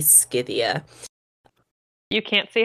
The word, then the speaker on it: Scythia: working they are obsidia I'm probably pronouncing this wrong I've probably been pronouncing it wrong this entire time because there was no Soft C in Greek so it would probably be scythia you can't see how